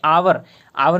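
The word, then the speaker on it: hour: आवर में भी अ का उच्चारण हो रहा है, ठीक है।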